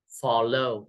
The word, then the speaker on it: follow: Follow or follow. Yeah, follow. First one.